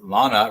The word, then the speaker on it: Lana: unlocking SEO it is Lana rhymes with Donna good job Brad